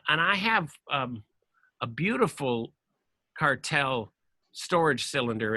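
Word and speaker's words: Kartell: in business it's Italian it's called cartel I think it's spelled kar te ll and lookup particularly the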